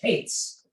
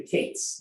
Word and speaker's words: kates: So the discount was the word called kates. Kates is spelled kuf tzadi. What's the matter? Kuf tzadi. Come on.